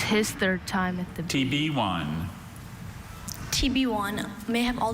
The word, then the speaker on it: tibione: TB1. This word literally sounds like the letter T, the letter B, and then the number 1, but it's not.